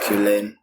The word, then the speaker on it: Cullen: you do but uh mine is pronounced killing killing yeah i'm a microbiologist